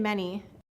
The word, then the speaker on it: many: saying the S sound now when we look at the words any and many it's true that the a saying e is an exception but I want you